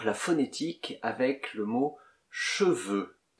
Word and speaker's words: cheveux: Et d'abord, la phonétique avec le mot cheveux. Cheveux. E-E. Comme dans je peux.